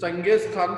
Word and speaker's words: Genghis Khan: They belong from the Genghis Khan और इसको हम हिंदी में बहुत बार प्रोनाउंसिएशन चंगेज खान भी बोलते हैं। तो one side they belong from the Janice खान और mother side they belong from the Taimur.